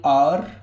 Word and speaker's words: hour: तो आप क्या लिखेंगे, एन आर, आर होता है ये, हावर नहीं होता है, HOUR, आर होता है ये, आर HOUR, इसमें एच साइलेंट रहता है।